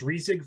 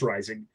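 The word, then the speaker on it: Reisig: is uh shaker rising which i pronounced as resig for like 10 months but i i don't remember exactly if i was saying it correctly i've been told it's rising uh and he led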